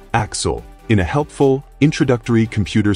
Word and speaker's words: A.X.L.: We're introduced to A.X.L., pronounced Axel, in a helpful, introductory computer simulation / marketing slideshow.